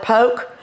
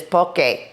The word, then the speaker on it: poke: A lot of people call it poke, but I'm here to tell you the proper pronunciation is poke. And that's probably my Texas accent, but it really is called poke.